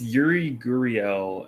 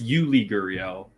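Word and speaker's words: Yuli Gurriel: what's your else you're it's yuri guriel and jordan alvarez yeah that's i was thinking of jordan jordan alvarez but just basically i'm sorry it's you lee gurion okay i'm terrible pronouncing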